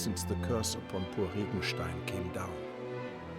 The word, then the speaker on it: Regenstein: Indeed, many decades have passed since the curse upon poor Rigenstein came down. That's how you pronounce that. Not very German.